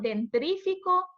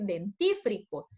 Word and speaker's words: dentífrico: A veces decimos dentrífico por decir dentífrico. Y a eso nos referimos con la pasta dental. Si alguien puede cuestionar, bueno, ¿y qué es eso? Es la pasta dental. Dentrífico, eso no es la palabra correcta. Y muchos de nosotros así lo decimos, pero la palabra correcta es dentífrico.